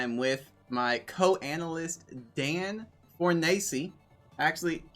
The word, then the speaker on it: Fornace: FullStream here, and I am with my co-analyst Dan Fornace. Actually, don't you change the way you pronounce it like every other year or something? I mean, Fornace's, that's right. You did it right.